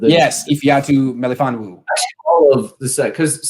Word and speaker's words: Ifeatu Melifonwu: Ifeatu Menifone yes, Ifeatu Melifonwu.